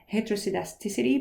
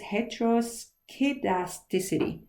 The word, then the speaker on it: heteroskedasticity: as heterozygous it's elasticity heterosedasticity but actually i think it is heteroskedasticity there's a k there that you need to say so heteros casts casts